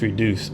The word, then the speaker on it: Redyoos: So reduce is spelled R E D Y O O S and it was actually